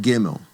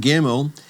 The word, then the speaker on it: gimmel: The third letter is called gimmel. And gimmel gets a hard G sound. G as in garage. Not the soft G sound, but the hard G sound. G as in go.